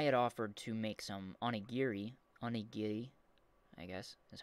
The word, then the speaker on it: onigiri: And I had offered to make some onigiri, I guess is how you'd pronounce that, which is rice balls, for some friends who wanted to try some.